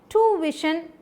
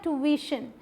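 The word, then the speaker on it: tuition: अगर आप इसे बोले ट्यूशन तो गलत होगा। क्या बोलना है? ट्यूशन। तो कहाँ पर स्ट्रेस देना है? यहाँ, वी पे।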